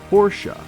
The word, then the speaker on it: Porsche: 2 syllables, Porsche.